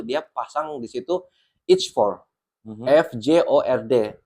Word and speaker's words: fjord: Orang yang tidak tahu apa itu F-jor, tulisannya F-jor, tapi bacanya F-jor gitu.